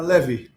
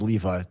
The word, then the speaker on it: Levy: Did I get your last name pronounced properly? Which one do you like though? Like what does your mom call you? Uh Levy. Levy. That's what I thought. Okay. God, I went with Levi.